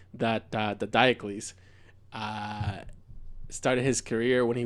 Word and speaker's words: Diocles: So if what I know about how to pronounce things in Latin, he's Gaius Apuleius Diocles. Now I guess Diocles, if you're American.